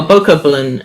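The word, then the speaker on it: Bokoblin: I the cop well bow coupling is actually the proper pronunciation but it sounds so stupid I don't care I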